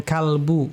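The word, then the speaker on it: قلب: Kalau hati itu qbu. Tapi memang kalau masuk ke dalam bahasa Indonesia mungkin memang pengucapannya kalbu ya, bukan qalbu lagi bukan qalbu. dalam bahasa Arab pakai qof ya.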